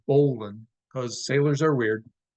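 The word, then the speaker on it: bowline: a bowan spelled b WL i n e pronounced Bolan because Sailors are weird it's used to form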